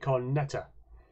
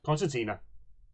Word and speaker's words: concertina: Yuki gives you a cornetta. I think that's how you pronounce it. Concertina? Concertina.